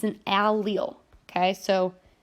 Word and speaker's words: allele: totally okay it's an allele okay so Al and then Leo is how you pronounce it allele okay it's different versions